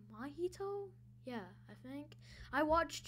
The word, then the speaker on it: Mahito: I think it's like Mahito? Yeah, I think. I watched JJK, I just don't know how to say his name. Yeah, it's Mahito.